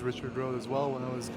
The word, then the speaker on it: Richard: Yeah, just like the anglicized pronunciation?